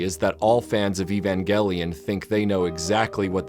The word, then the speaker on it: Evangelion: you may have noticed I've been pronouncing Evangelion with a hard e at the front but I'm using hard G in the middle despite the word Angel being the central word of the title I've done this up